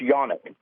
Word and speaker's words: Canik: So she actually settled on between the two, a SIG Legion and a single action only, and a Canik, sometimes pronounced Yonic.